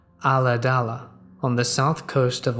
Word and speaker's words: Ulladulla: We lived in a small rural town pronounced Ulladulla on the south coast of Australia.